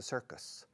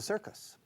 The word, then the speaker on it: circus: And it's similar to acrobats in the circus. You go to the circus, el circo, sir, C-I-R, sir. Se pronuncia sir, no thir, okay?